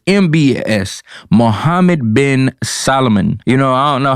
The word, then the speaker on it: Mohammed bin Salman: mbs and i apologize couple weeks ago i butchered his name i said m-s-b-m-a-e-s something like that but it's mbs mohammed bin salman you know i don't know how it is